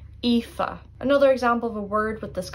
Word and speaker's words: Aoife: And that begins with AOI, 3 vowels together, and AOI is pronounced like E. Aoife.